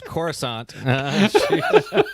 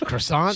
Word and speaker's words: Coruscant: Star Wars oh yeah she couldn't pronounce Coruscant she said croissant yeah yeah yeah so